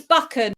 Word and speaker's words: Buchan: It's Buchan, is his surname. Oh, Buchan, thank you. Did I? Buchan, yeah. I butchered it.